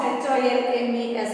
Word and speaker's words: Holmes: Lillian Holmes is the author of the poem. Lillian Holmes, L-I-L-L-I-A-N, Lillian Holmes, H-O-L-M-E-S. It is not H-O-M-E-S, it is H-O-L-M-E-S. L is silent there. We pronounce it as Holmes, Lillian Holmes.